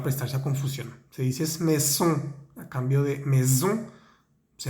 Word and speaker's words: maison: Se me olvidó decirles que la palabra casa, maison, vemos una S entre la I y la O. Debemos hacer que vibre, ¿vale? Maison, maison.